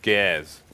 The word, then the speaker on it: Gares: That's going to be SEMPHIS with the MP7 as well, as Sean Gares. You need to pronounce the R like American, and not like a Brit. Ours do not exist in this country.